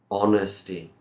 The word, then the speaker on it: honesty: in the story okay remember honesty no h sound here a generous person gives